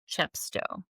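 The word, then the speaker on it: Chepstow: to this place called again, sorry for the pronunciation, but he he's gets taken to Cheapto. Chepto, which is in Ken Littleworth.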